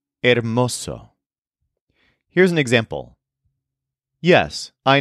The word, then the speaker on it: hermoso: our next word is Oso which is spelled h e r m o o but of course the H at the beginning is silent Oso here's an example yes